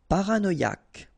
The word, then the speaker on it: Paranoïaque: Paranoïaque. Okay, remember, Q-U-E, K. Paranoïaque. Paranoïaque.